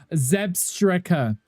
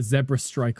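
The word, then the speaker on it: Zebstrika: Zeb Striker. Zeb Striker. Angry told me off for this one time. The pronunciation of that Pokemon. I think I called it a Zebra Strike or something, didn't I?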